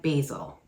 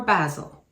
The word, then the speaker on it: basil: To have spaghetti, substitute 1.5 teaspoon of oregano and 1.5 teaspoon of dried basil, or basil, depending on how you want to pronounce it.